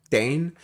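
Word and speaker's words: Daen: Dane. Just that. You know those one syllable words.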